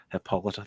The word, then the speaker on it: Hippolyta: Like even her mom, I still can't pronounce her name. Hippolyta.